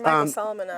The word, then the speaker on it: Solomonov: You're Michael Solomonov. Well, thank you very much. Thanks also for pronouncing my last name correctly.